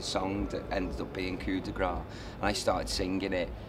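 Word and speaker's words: Coup de Grâce: Well, I say Coup de Grace, but you can say I've either. not said it right. You can say it either or.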